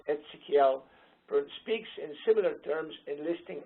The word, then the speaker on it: Ezekiel: Prophet Ezekiel speaks in, it's pronounced Ezekiel, speaks in similar terms, enlisting obligations that people